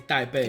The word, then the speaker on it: Taipei: To start with, let's have a look at the famous Taipei 101, which is Taipei. 500 That's how you say it, bro. meters tall. It's Taipei.